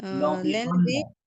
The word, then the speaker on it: l'environnement: Len len vi L'environnement. L'environnement. শোনা যাচ্ছে না কথা। L'environnement. L'environnement. L'environnement. M-O-N আছে ম l'environnement. L'environnement. Et L'environnement. là, এখানে দেখেন আপনি বানানটা দেখেন এম আছে না তাহলে ম হবে l'environnement.